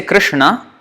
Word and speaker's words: Krishna: no no no this no when we say Krishna this is the know that we are pronouncing this all or supposed to crowns it's